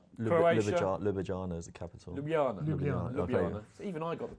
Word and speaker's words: Ljubljana: It's not on the coast like Ljubljana is.